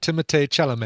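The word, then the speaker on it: Timothée Chalamet: um oh Tim chalam timate chalam is in there yeah not mispronounced At All by the way that's exactly right timate chelam yeah it's exactly right and uh the daughter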